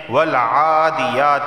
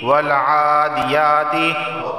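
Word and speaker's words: والعاديات: کی تلاوت کی ہے اور اس کا لفظی تلفظ بیان کیا ہے۔ اب اس کی تجوید دیکھ لیتے ہیں۔ والعادیات، عین کھڑا زبر آ اور یا کھڑا زبر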